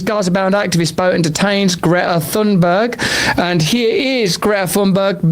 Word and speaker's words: Thunberg: My name is Greta Thunberg and I am from Sweden. Well, firstly, we've all been saying it wrong. I mean, I had no... That's an unsayable sound.